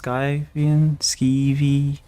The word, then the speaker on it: Skivian: How would it be pronounced? Skivian? Skivian? Skivian. So I guess I was doing it correctly.